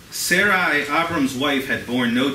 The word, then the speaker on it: Sarai: says Sarai Abrams wife I know it was Sarah and Abraham but so barely so Sarai Abrams wife had born